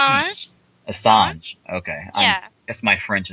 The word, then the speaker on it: Assange: So Assange, if I say his name right, how do you pronounce his name? Assange.